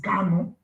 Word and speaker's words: Kano: Our leader is Kano. It's not Carlo, it's Kano. For some of you that always need this pronunciation, it's Kano, not Carlo.